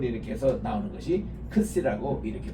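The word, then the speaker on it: ξι: 크시라고 발음을 합니다.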